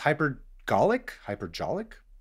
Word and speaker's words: hypergolic: It's called chlorine trifluoride, and it's hypergolic? Probably golic with the hard G.